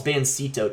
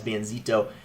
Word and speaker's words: Bansito: be versus banzito so well it's bansito technically but i think if you speak spanish you pronounce it as banzito benzito is a really